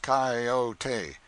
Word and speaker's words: coyote: If I remember rightly, this latter was the regular coyote, pronounced coyote of the farther deserts.